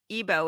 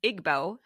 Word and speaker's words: Igbo: I learned is that I was pronouncing ebo incorrectly I had been pronouncing it Igbo but ebo is the name of the people that shinoa a Chan